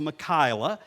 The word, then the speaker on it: Michaela: he is married to mikayla now when you see your name it's going to look like michaela but it's pronounced mikayla and they have one